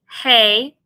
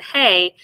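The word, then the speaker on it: ה: Then we have the Hey as well. This is pronounced like our H sound.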